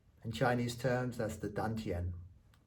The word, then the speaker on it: dantian: In Chinese terms, that's the dantian. D-A-N-T-I-E-N. Dantian, sometimes pronounced with a T, but a dantian.